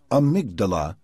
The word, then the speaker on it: amygdala: A tiny brain structure called the amygdala, pronounced amygdala, keeps track of experiences that trigger strong emotions.